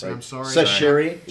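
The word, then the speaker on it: Chachere: a guy named Douglas Chichari. Or how do you pronounce it? I'm sorry. Sashiri, like from the seasoning.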